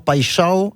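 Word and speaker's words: Paixão: l'OM puisque le Brésilien Igor Pachao et oui parce que je le faut le faut le prononcer à à la Sud-Americana.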